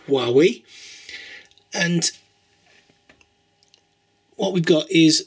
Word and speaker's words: Huawei: It's not pronounced Huawei. It's apparently pronounced Huawei.